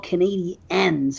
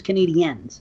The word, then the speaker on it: Canadiens: And I'm like, why do they pronounce it like a female version? Like there's Canadian and then there's Canadian and there's Canadiens.